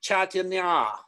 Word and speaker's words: Chaitanya: Tanya, chai like tea, chai. And Tanya like a ballerina or an ice skater, figure skater, chai Tanya, right?